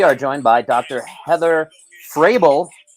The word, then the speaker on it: Fraebel: Heather Fraebel, and sounds like or pronounced like Vrabel, Mike Vrabel.